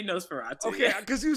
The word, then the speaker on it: NOS4A2: So people are saying Nosferatu, right? Yeah, you say Nosferatu.